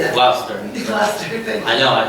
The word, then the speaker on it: Gloucester: Gloucester, thank you.